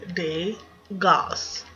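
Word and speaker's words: Dagaz: one who brought us deos and that is day Goss and another little tip that I've learned with learning how to pronounce them is that if they have a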